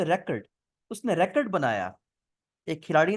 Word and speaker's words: record: इसकी प्रोनाउंसिएशन में मुझे एक बात याद आई कि अगर हम इसको वर्ब के तौर पे यूज करेंगे तो वो होगा रिकॉर्ड, आई एम रिकॉर्डिंग the meeting, I एम रिकॉर्डिंग the video.